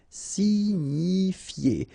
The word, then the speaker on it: signifier: Signifier. Okay, it's quite strange, but remember that G-N-I, ni, signifier. It's quite tricky because you've got many I in this verb. Signifier, signifier. Inquiéter.